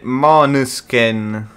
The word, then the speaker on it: Måneskin: Però pensa, in danese sì, comunque si pronuncierebbe ancora diverso e si pronuncierebbe Måneskin. Måneskin. Con la schwa.